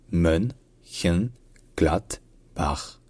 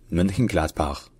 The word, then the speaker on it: Mönchengladbach: Donc le nom complet, c'est Mönchengladbach. Mönchengladbach. Mönchengladbach.